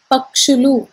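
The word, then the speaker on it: పక్షులు: you make it a plural form that is pakshalu p-a-k-s-h-u-l-u which are nothing but birds so the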